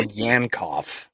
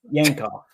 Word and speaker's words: Yankoff: How do you say that name, Jacob? We'll go Yankoff. Yankoff.